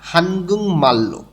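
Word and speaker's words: 한국말: ইগন মানে হচ্ছে এটা, হানগুং মাল্য, এখানে উচ্চারণটা হবে হানগুং মাল।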